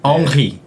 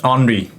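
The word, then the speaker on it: Henry: 탁 걸리는 그 느낌 그래서 엉히 엉히 요게 이제 프랑스식으로 읽는 이름입니다 근데 아 그럼 프랑스 현재에서는 엉히 이렇게 발음한다는 말씀이시네요 그죠 사실 엉 키라고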